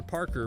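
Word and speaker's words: Parquagh: His name is still Peter Parker, but it's spelled a bit different.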